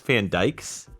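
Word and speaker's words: Van Dyck: I'm no stranger to I think it's Jeff Van Dyke's, I think. Oh, really? I know it's spelled D-Y-C-K, but I think it's pronounced Jeff Van Dyke.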